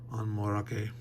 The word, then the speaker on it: Onmorake: I think it's like, again, from the Japanese. Onmorake. Like equal pronunciation of all the syllables.